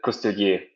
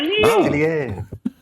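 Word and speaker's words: Coustillier: Now, actually, it should be coutelier in French because they wouldn't pronounce the S. It's always silent. Like S after O and Q is always silent, and it should be coutelier.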